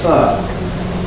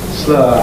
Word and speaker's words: slower: Similarly, earlier on I used the word slower, and I pronounced it, did you notice, as slur. Slur. I was doing the same sort of things. You've got O plus er.